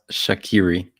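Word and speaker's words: Shaqiri: them this season so familiar fo and it's pronounced shakiri Jose he's not on here anymore but just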